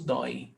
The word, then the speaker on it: Dói: Ah, isso dói. This hurts. Dói, monosyllable tônico ending in oi.